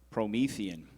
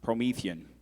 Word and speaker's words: Promethean: Promethean. It could also be pronounced Promethean.